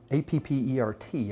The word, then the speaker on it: Appert: A fellow by the name of Nicholas Appert, A-P-P-E-R-T, I'm trying to pronounce it like my buddy Raul would. Yeah. Appert.